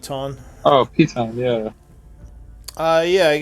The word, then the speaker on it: piton: Or Payton, or I don't know how you pronounce it. Piton.